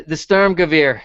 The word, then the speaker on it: Sturmgewehr: The Sturmgewehr, is that what it's called? Is that how you say it? You're good. Yeah. Yes. Yeah.